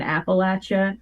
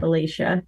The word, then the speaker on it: Appalachia: Moshe, it's pronounced Appalachia. Like, I'm going to throw an Appalachia and not Appalachia.